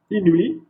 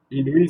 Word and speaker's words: inouï: Donc ici, on peut trouver le tréma sur des mots, sur la lettre I, d'accord? Prononcer I, bien sûr.